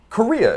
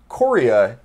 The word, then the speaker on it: Corriea: say your last name chorea in my mind was how it was always pronounced and i would have never guessed in a million years that it's korea but i am i